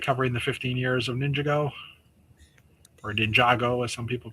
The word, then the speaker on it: Ninjago: it kind of covering the 15 years of Ninjago or Ninjago as some people pronounce it.